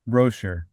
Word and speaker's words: Roescher: John, I didn't even ask you if I pronounced your last name correctly. Is that how you say it? Almost. Roescher.